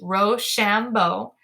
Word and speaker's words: Rochambeau: Our watchword was Rochambeau, the commander of the French forces' name, a good watchword for being pronounced Rochambeau. It sounded, when pronounced quick, like rush on, boys.